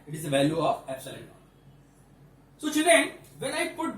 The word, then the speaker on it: epsilon naught: Now focus on the pronunciation of this word. This one is epsilon naught. Not for zero, epsilon. It is a Greek letter, epsilon naught.